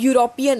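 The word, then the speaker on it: European: अब यूरोप है, अब यूरोपियन है, तो यूरोपियन में आपको ई की साउंड नहीं दिख रही है, इसमें आपको यू की साउंड दिख रही है।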